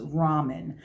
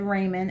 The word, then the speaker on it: ramen: And especially if you know somebody who loves ramen. I said, Raymond, and the English teachers on the web corrected me.